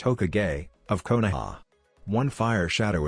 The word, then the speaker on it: Hokage: Translations and explanations Science Shot I'm the first Hokage, it's pronounced Hokage, of Konoha.